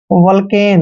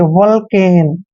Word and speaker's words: Vulcan: दोस्तों VU का उच्चारण वह करते हैं हमेशा और L को ले पढ़ना है। C का उच्चारण कै करते हैं, A को ए की मात्रा पढ़ते हैं और N को न पढ़ते हैं।